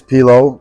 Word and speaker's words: P Low: what's what's your name my name is pilow uh I think you pronounce it pillow I haven't decided yet yeah it's because of